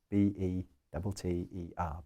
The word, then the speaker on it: better: This is the standard British English pronunciation of B-E-T-T-E-R, better. The letter T is pronounced like in French, but with a small breath.